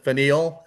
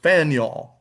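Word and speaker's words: Faneuil: uh of the founding and it is called Faniel Hall. Okay, you can see it's f a neur. A lot of people pronounce it fine. That would be quite understandable. But the actual pronunciation is Faniel. Faniel Hall and again this is in Boston uh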